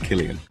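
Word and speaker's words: Cillian: guy who played Oppenheimer it's pronounced Killian is that him right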